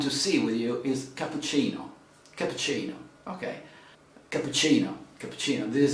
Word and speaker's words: cappuccino: ah cappuccino okay so let's say the correct pronunciation cappuccino okay it's written here